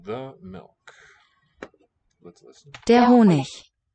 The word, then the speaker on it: Honig: One of the ways to pronounce the final G is with a ich, where the sound is produced just by the friction of that slender space in the mouth. Der Honig. Some dialects may pronounce the final G as a k.